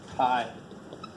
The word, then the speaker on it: chi: is called chi-square love it's not x squared it's a Greek letter Chi it's relatively little to do with Dragonball Z so I need you I might need you so you pronounce this high so here's I want